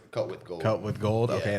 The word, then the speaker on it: CutWGold: That's how you pronounce it. Okay, That's cut why, with yeah, gold. some people don't. They probably think it's just Yeah. cut W gold, but yeah, it's cut with gold.